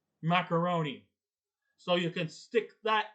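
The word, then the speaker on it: Maccarone: with the tubes no his name is spelled differently but it's still pronounced macaroni so you can stick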